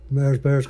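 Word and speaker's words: Mahers Bahers: Bears it's a takeoff of course of the Mars Bears company but we just spell it m a h e r s b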